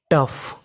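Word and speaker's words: tough: पढ़ते हैं फा यानी कहीं पर आपको इंग्लिश में ओ यू जी एच लिखा मिले तो आपको उसका उच्चारण करना है फा जैसे टी ओ यू जी एच टफ टफ टफ का मतलब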